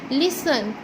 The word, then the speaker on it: listen: लिसन, यहाँ पर भी T साइलेंट जा रहा है।